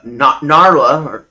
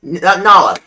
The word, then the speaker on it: Nala: Naya is based on Narla, or how do you say it? Nala? Nala. I call it Nala because, right out of the Lion King.